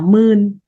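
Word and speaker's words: ໝື່ນ: Từ vạn, vạn tiếng Lào nói là mươn.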